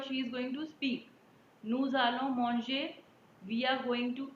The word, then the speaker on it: nous allons: Why we say nous allons? I've already told you so many times why the pronunciation is nous allons, because after is vowel is there. So liaison.